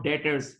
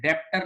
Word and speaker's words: debtors: Receivables को receivables भी बोलते हैं और डेटर्स, ये DEBTORS, लेकिन इसका बी साइलेंट होता है, डेटर्स बोलते हैं। बोलते हैं डेप्टर नहीं बोलेंगे, डेटर्स, डेटर्स।